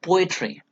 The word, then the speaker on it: poetry: For example, poetry, poetry. Okay, po is given importance here, e not given importance, 3 is not given importance.